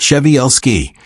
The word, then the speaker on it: Przewalski: The Przewalski's horse, pronounced sheh-val-skee, and sometimes called the takhi, is not simply a wild-looking horse.